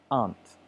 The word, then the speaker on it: aren't: is Arndt and Arndt sometimes it's typical to put extra pronunciation on the R but really when you hear it from a native speaker it's simply aren't you aren't my aunt okay